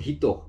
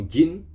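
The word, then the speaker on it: 人: Kemudian kosakata berikutnya yaitu hito atau jin, dibaca itu artinya adalah orang. Jadi ada dua cara bacanya.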